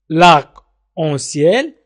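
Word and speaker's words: arc-en-ciel: اون في اون ان تقرأ اون. سيال السماء. لاك اون سيال القوس في السماء، ولكن نسميه نحن قوس قزح.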